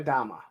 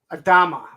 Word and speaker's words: Adama: same pose so it just worked um Captain Adama Adama that's it Adama um so anyway this is